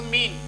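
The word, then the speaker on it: mean: आएगी य मी और ये एन यह आपका साइलेंट हो जाएगा तो मीन इसका रूल है ई के बाद ए आए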